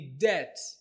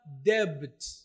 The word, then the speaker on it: debt: kwa hiyo tamka whole neno la tatu ni deat wengi wanakosea na wanatamka debt. Hii ni kwa sababu kuna B katikati ila hii B haisomwi katika kiingereza kwa hivyo tamka de.